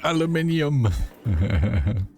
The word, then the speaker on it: aluminium: Is aluminum. The aluminum as the uh Europeans like to say. Yes. Aluminium.